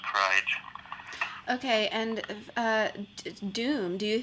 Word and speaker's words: KRYG: So it's K_R_Y_G_, and it's pronounced Kryge.